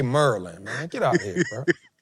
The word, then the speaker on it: Maryland: Say Maryland. It's Merlin.